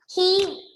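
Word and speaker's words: he'd: He would.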